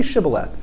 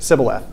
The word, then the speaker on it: Shibboleth: And I'm going to listen how you pronounce it. Say Shibboleth. Sibboleth.